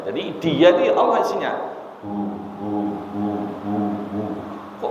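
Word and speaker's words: هو: Ahad katakan dia Allah Hua dan Allah itu sama Hua itu mubtada Allah khabar ahadun bisa menjadi khabar yang kedua atau menjadi Badal dari Allah hua damir hua kalau diwakakan bacanya hu dalam zikir ee ee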